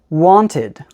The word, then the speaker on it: wanted: And don't forget that we follow the same rule when there is a T before the ed. So this word is wanted.